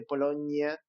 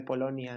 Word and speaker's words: Polonia: Y mucha gente dice Polonia en lugar de Polonia, ¿no?